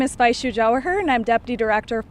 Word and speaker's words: Jawahar: of Policy Programs of Protect Our Care, Vaishu Jawahar. Did I say it right? Jawahar, yeah. Jawahar.